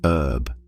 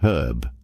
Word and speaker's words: herb: In American English, they often drop the h and say herb. But in British English, they keep the h and pronounce it herb.